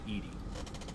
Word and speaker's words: EDI: Why are you named Edy? EDI is the phonetic pronunciation of EDI. That is an acronym for enhanced defense intelligence.